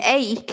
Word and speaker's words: ache: age yeah and an ache if people don't know it's a strange pronunciation ache you know and the